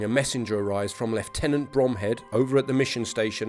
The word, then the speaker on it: Bromhead: Bromhead, whose name is actually pronounced Brumhead, has already ordered the